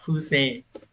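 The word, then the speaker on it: 不正: Đọc là phư xê.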